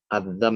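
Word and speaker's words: الذم: Bacanya dzal ya, bukan apa tadi bacanya? Bukan dha tapi dzal. Adzam itu celaan ya.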